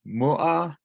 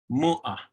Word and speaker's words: mua: Tomorrow is you put the stress on that first syllable. Mu'a, mu'a, mu'a.